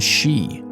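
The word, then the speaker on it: 四: Japanese for God and she is for four four also has a special connotation in Japan though it's considered an unlucky number because it's pronounced the same way as their word for death hope you enjoyed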